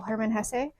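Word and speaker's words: Hermann Hesse: thought this was all Herman Hess um which I believe is how his name is pronounced because my sister was a German major for a bit other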